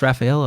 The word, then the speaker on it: Rafael: It's like just Rafael, or can I get like spicy? Like Rafael.